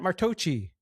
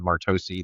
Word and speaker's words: Martocci: That's the Italian pronunciation, right? So there is nothing to correct. If you were asking me how to pronounce my last name, it's always been Martocci. That's what Grandma kind of softened it to, back in